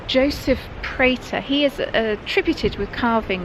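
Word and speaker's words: Prater: t e r now we don't know if that's pronounced prer or Pratt I think Double T might indicate Pratt I go prer yes so we'll call him Joseph prer apologies if we have that pronunciation wrong somebody that's done a lot of research Hannah eustus confirms that it was Joseph prer he was the son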